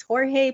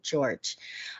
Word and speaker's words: Jorge: Now, his name is spelled Jorge, which I know. I always thought that was Jorge, but they call him George.